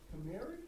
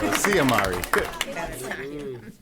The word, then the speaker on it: Siamari: Is it Kamari? Kamari? Siamari, come on. Come on. I just said it. Calamari? No, Siamari.